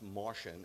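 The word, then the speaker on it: Marcion: in 140 ad okay sadly enough it's pronounced Martian and you'll find out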